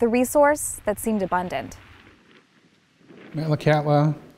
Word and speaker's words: Metlakatla: Metlakatla is the anglicized pronunciation of a Tsimshian word, Metlakatla, which means saltwater channel where the wind dies down.